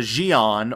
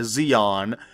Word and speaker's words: Xi'an: And we're going to be starting off with the Xi'an, or the Xi'an. I don't know how it's pronounced. I know that the X is supposed to pronounce like a Z.